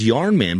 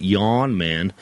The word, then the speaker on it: Yarn Man: simpson to sign my yawn man uh it's pronounced yarn man but if you go with old wolf he pronounces it yawn man and uh don simpson thought that was really